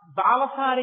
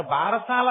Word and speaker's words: బాలసారే: గబగబా చల ఏదో ఆ బాలసారే చేస్తుంటారు బారసాల కాదు బాలసారే బాలసారే అంటే బాలునకు ఇస్తున్న సారే కాలుక దాని బాలసాల బాలసా బాలసాల భారసాల ఎంత భారమైనా ఎక్కించారు అసలు దాని ఉచ్చారణ బాలసారే బాలసారే యందు ముందు ఆ ప్రసవమైనటువంటి